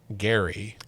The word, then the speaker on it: Gerry: And um, named Elbridge Garry actually, but it was spelled Ge R Y.